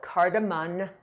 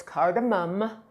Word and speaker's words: cardamom: was in culinary school, used to call it cardamon, but it's cardamom, like your mom, like your mom's got a bum. So, it's mom, almost like m o m, and it is spelled like m o m.